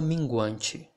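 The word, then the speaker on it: minguante: the wayne moon uh the pronunciation thing i'm going to call your attention for the ch in portuguese it does not sound like the ch in english okay this is not this is not the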